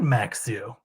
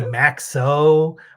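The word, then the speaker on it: Maxsø: playoffs means Apple announcers study and learn how to pronounce both Navajo and maxu so that was a cool note uh we didn't hear any maxo or Navaros uh it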